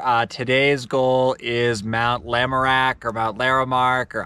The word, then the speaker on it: Lamarck: local hikers and they're telling us it's actually pronounced lamarck which makes a lot of sense so that's